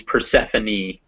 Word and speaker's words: Persephone: if you're talking about like persephone is a greek goddess the goddess of spring her name is persephone and those you pronounce the e's at the end um but rarely if